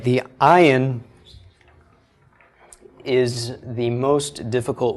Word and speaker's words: ayin: Most dialects and most people simply pronounce the ayin just like an aleph.